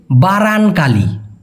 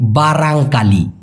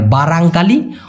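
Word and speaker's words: barangkali: যাচ্ছি উনার প্রশ্ন হচ্ছে বারানকালী বারানকালী মানে কি ভাই ভাইয়া মূলত ভাই সঠিক উচ্চারণটা হবে বারাংকালি। মালয়েশিয়ান ভাষায় দুর্ভাগ্যবসতকে মালয়েশিয়ান ভাষায় বলা হয় বারাংকালি অথবা ফুল ফর্ম খারাং কালিয়াং।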